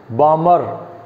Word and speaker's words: Balmer: So that time spectrum, a scientist Balmer, a scientist, L is silent in this.